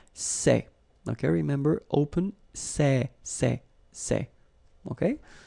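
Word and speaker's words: ces: All right, for the plural form, so masculine plural, it would be c'est.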